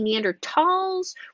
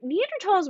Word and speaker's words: Neanderthal: it was originally named german had a lot of silent h's in its language since then it's german has actually removed a lot of those h's so that's why in the common name we can remove that h however because scientific names